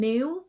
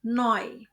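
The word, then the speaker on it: neu: Ingat kombinasi huruf E U dibaca oy. Jadi bukan new tapi noy.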